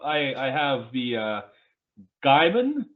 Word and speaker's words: Gaiman: I have the uh Gaiman Gaiman I thought it was gaming I I you know